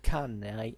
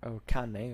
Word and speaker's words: Cannae: For instance, if you take the Numidian cavalry that fought at Cannae, or Cannae, as you will prefer, which pronunciation you prefer, you realize these guys